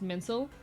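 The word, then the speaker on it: mainsail: Uh, main sale is actually pronounced mincel.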